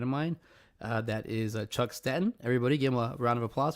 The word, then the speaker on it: Staton: It's actually Staton, Chuck Staton. Staton. Sorry. Staton. And it's funny because I live on Staten Island. Yeah. So I know it's annoying. It's spelled the same though? It's similar. It's Staton, and Staten is Staten. Ah, I'm sorry, bro. No, everyone does that. Everyone says Staten all the time.